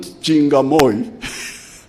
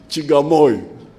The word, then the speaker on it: Chigamoy: It is not Chingamoy. It is Chigamoy.